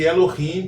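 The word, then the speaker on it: אֱלֹהִים: Já aprendemos que Elohim possui duas sílabas, uma sílaba aberta e outra sílaba fechada. Então, Elohim possui duas sílabas, a sílaba tônica é a última sílaba e a anterior é a sílaba pretônica.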